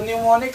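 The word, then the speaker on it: mnemonic: तो न्यूमोनिक में first M जो है ना, फर्स्ट एम जो है क्या होगा? आपका साइलेंट होगा।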